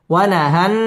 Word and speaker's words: ونهى: একালিফ টেনে পড়তে হবে ওয়াও ঠোঁট গোল করে উচ্চারণ করতে হবে ওয়ানাহান ওয়াজিব গুন্না নাফসা আনিল হাওয়া